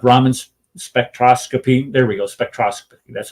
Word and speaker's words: spectroscopy: There we go, spectroscopy. That's how you pronounce it.